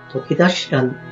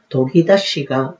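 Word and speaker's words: 研ぎ出し: 오늘은 건설 현장 용어 바로잡기 43번째 시간으로 도끼다시란 말을 정리해 보겠습니다. 도끼다시 마감은 주택 등에도 많이 썼기에 일반 생활 용어로도 많이 알려져 있는 말입니다. 일본어 발음으로는 도기다시가 맞는 말입니다.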